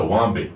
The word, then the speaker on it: Wamba: And Wombi, interestingly enough, in East Texas is spelled W-A-M-B-A. Wombi. So it's Wamba.